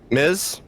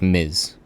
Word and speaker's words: Ms: How do you say MS? Miz. Yeah, that's Miz. Like M. M I Z is basically how you pronounce it.